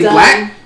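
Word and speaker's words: 6LACK: This dude put a 6 in front of LACK, and we supposed to say black?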